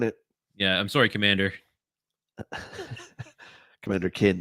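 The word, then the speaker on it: Commander Keen: yeah I'm sorry commander commander kin it's pronounced Commander kin by the way yeah Commander kin been saying it wrong all these years uh Edge Lord Ed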